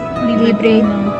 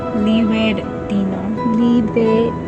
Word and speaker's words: Libertino: Libretino. Libretino. No, Libretino. Libretino. I'm very gringa, guys, even though I'm half Cuban. I'm so gringa. Libretino. No, not libre. Libertino. Libertino. Pronounce it hard, bro.